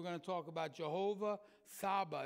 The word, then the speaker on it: Tsaba: to talk about jehovah saba it's spelt t s-a-b-a but the t is silent jehovah saba i know